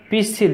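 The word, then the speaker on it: pistil: जड़ रूट, जयांग पिसिल, पिसिल देखिए इसमें टी साइलेंट है, पिसिल, झाऊ, कॉनिफर, कॉनिफर,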